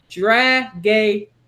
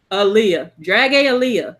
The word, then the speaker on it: Dragalia: Yes, but they pronounced it Dragalia. Dragalia.